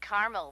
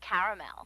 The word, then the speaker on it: caramel: it in Carmel actually you said Carmel when it's pronounced caramel can't we just call